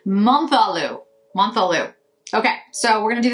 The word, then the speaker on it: Menthe: This is the Menthe Menthe. Let's try it. Let's get an actual, just like, see how this is supposed to be pronounced. So Menthe means mint water. Interesting. Okay, mint water. Menthe. Menthe. Menthe.